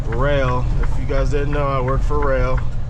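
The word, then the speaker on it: Roehl: know I work for rail r o e h l that's how you spell rail not r-a-i-l however else my other uh dirtbags spell it that's how you spell it r-o-e-h-l I like the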